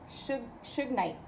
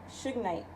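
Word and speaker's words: shungite: I'm not butchering it it's pronounced Suge Knight like you know the rapper the the you know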